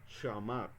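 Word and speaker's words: שמע: Entonces fíjense todas las palabras en las cuales se puede ver la palabra Shama, que algunos lo pronuncian como Shema, pero yo estoy viendo aquí que, digamos, la mejor pronunciación sería Shama, Shama Yisrael.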